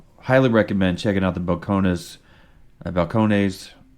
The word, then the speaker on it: Balcones: recommend checking out the balcon balcon how is it pronounced Balcones Balcones uh Texas number one